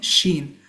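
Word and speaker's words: شين: this sound that we we make sh when we want someone to keep quiet we say shh. So that's the sound for this one sheen.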